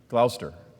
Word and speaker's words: Gloucester: Gloucester. The C is silent, sorry. So the Gloucester, England, and it came